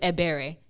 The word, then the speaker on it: Ebere: bear that's that's our foolishness like we are mispronouncing my name my name is a berry so and again I own my true for